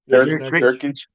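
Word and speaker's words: Nurkić: It's Jurek? How do you say his name? Nurkic.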